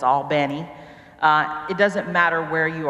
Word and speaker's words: Albany: are you know in I won't say it right all bene because I say Albany but it's all bene it doesn't matter where